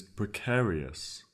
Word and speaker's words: precarious: Our third word is precarious. Precarious. It's spelled P-R-E, pre, C-A-R, car, I-O-U-S, eus, precarious.